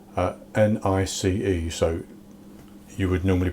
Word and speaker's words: Nice: Today I'm going to be making some Nice biscuits. Nice is spelled N-I-C-E, so you would normally pronounce it nice, but in the case of these biscuits it's pronounced Nice.